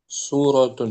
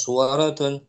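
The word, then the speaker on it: سورة: Intinya pembiasan aja sering kita lihat, perhatikan nanti terbiasa suratun pakai su bukan sua, bukan suaratun.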